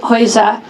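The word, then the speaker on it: Geuze: New York and it took a Dutchman Adrian hoiza which I can now pronounce correctly to create what you're about to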